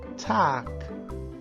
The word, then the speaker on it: Tag: Então, Tag. Tag. G virando K.